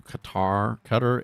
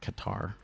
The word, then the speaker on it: Qatar: Maduro could be exiled to Qatar as I always want to say Qatar, but it's Qatar as Trump warns land strikes on Venezuela coming very soon.